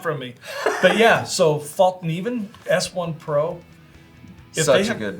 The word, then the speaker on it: Fallkniven: If you guys think I'm pronouncing that wrong, fight me. It's totally Fallkniven.